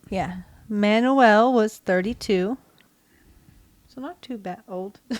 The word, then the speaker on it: Manoel: So I got Manoel. Manoel. M-A-N-O-E-L. Manoel. Oh, Manoel. Pereira de Cruz. Okay. And Miguel José Viana. I think you got that one right. Yeah. Manoel was 32.